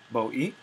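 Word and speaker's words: βοΐ: Hobus tu boos to boi, and it's important to notice that these are actually two syllables, boi.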